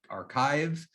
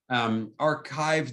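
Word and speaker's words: arXiv: service is called archive that x is actually supposed to be a greek chi that's why we pronounce it archive archive the original one was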